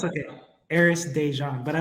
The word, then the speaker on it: Déjan: pronounce my name so my middle name is pronounced dejan my apologies no no it's okay heiress dejan but i like that's